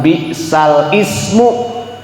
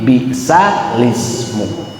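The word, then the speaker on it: بِئْسَ ٱلِٱسْمُ: Ditandain sama Ibu, digaris bawahin yang kalimat ini agar nanti ketika Ibu pas tadarusan ketemu ayat itu, maka dibacanya bukan bal ismu tapi bisalismu.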